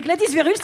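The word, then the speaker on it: Gladys Verhulst: Louche Adorest et Gladys Verluch. Et en plus, niveau prononciation, c'est parfait.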